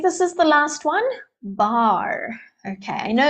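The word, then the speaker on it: barre: would normally use but I think Barr is an older spelling and it's more specific to ballet and that's why it's used here so this is called a bar different spelling same pronunciation so this type of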